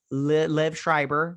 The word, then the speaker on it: Liev Schreiber: davis jeffrey wright uh lev schreiber that's how you say it and then he's got